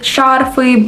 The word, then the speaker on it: шарфы: Same rule with шарфы, банты.